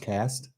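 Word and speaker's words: caste: a c system St I think it's pronounced cast it's pronounced cast but spelled case yeah you're right yeah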